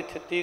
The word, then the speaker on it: थिति: एक ही है पर जो लिख है व है थिति इस द उच्चारण भी थिति करना है पातशाह जी कृपा कर